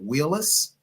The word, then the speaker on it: Wheelis: of your last name is it Wheelis you said it correctly that is correct all right all right